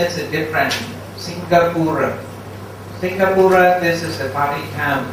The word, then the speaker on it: Singapura: Singapore means Singapura. Pronunciation is different. Singapura, this is a Pali term.